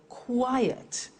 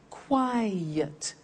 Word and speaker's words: quiet: look at another example quiet listen to that quiet two syllables quiet another one safe is one